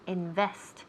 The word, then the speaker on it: invest: To invest. And so the second syllable has the accent there. To invest.